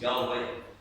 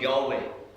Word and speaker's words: Yahweh: 4 consonants, Yahweh. And what Hebrew scholars have told us is that the correct pronunciation of Yahweh imitates and replicates breathing.